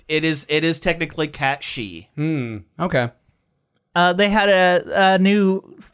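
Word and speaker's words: Cait Sith: just hope in in Final Fantasy 7 rebirth Kate Sith is actually a usable character and I don't care that his name is cat shei really that's how they say it's pronounced that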